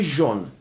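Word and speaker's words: jaune: ا تلفظ میشه دوستان این ترکیب در زبان فرانسه به صورت او تلفظ میشه یعنی هر وقت شما ا و او دیدید او تلفظ کنید مثل کلمه ژون ژون به معنی در واقع زرد هست رنگ زرد رو در زبان فرانسوی ژون میگن ترکیب بعد ای و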